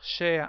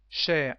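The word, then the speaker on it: cher: e r like share share has two meanings in English expensive and dear so share is the masculine form with the same pronunciation is share but with a grab accent and a final e Dear Peter is share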